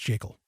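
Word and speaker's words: Jekyll: for a good reason it's the creature from jacel Island yes it's pronounced jacel and in that book gever Griffin clearly states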